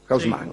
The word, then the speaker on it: Haussmann: En 1853, el día en que Haussmann prestó juramento, como digo, la pronunciación que se usa en París, Haussmann. Sí. Después, si usted quiere, podrá decir otra cosa.